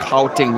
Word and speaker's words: Gauteng: Kyle Choncho, you say that the G on on Gauteng I'm pronouncing it wrong. Yeah, okay. Ugandan accents pronounce the word strong. We say Gauteng, but when you talk to the South Africans, they seem to sound like Howting or something like that.